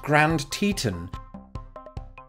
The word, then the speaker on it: Grand Teton: know this in the United States it's actually pronounced Grand Teton there's actually quite a lude way to remember